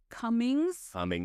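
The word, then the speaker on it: Cumings: Bruce Cummings. It only has one N. Why is it pronounced that way?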